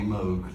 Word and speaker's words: Moog: By the way, Bob says he doesn't care which one as long as you say his name. Which I love, by the way. I always said Moog cuz it looks like It looks like a Moog.